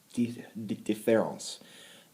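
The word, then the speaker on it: différance: the the top difference it just looks like difference but in French it's pronounced deference uh I hope I'm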